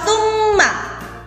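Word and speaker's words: ثُمَّ: Yang pertama adalah lafal tsumma. Di situ ada mim tasjid, maka dibaca gunnah. Tsumma dibaca double, mimnya menjadi 2.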